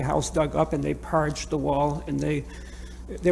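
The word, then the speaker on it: parget: to show that it's habitable what what is p-a-r-g-e-t and how do you pronounce it it's parge my boss and i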